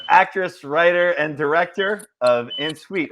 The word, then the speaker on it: en suite: here with uh actress writer and director of en suite right that's how you say it it's on